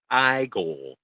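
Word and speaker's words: Igor: It's pronounced I go. I go and then Abby Normal.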